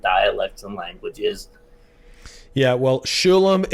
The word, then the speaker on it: Sholom: Yeah, well, Sholom is the right way to say it, folks.